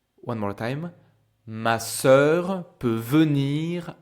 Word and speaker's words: sœur: And exactly like I was telling you earlier, ici on a le son because the sound of the vowel is closed by the consonant r. Ma sœur. The vowel is sœur. It's closed.